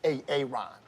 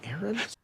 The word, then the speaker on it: Aaron: you say it the first time i said ay-ay-ron because it's pronounced Aaron he's solving 1,350 divided by 90 he needs